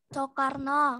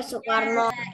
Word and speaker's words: Soekarno: Hei Nah pertama perhatikan perhatikan siapa ini namanya sokarno er Soekarno Insinyur slow no kalian kalau tidak teliti membacanya masih banyak ya yang keliru Yada Soekarno Soekarno sukarso semuanya ada yang jawab ini ternyata ya tadi kurang teliti membaca ini lanjut ini namanya siapa